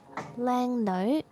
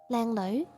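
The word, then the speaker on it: 靚女: But some people will speak it like low. Lang low. It still works. But the correct way is you need the N in the beginning. Lang no. You need to use the nose. The sound have to come out from your nose.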